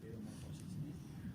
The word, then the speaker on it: paedomorfosis: ¿Ven que esto se escribe paedomorfosis? Bueno, pero en latín paedo se dice pedo. No tenga vergüenza que no es mala palabra decir pedomorfosis.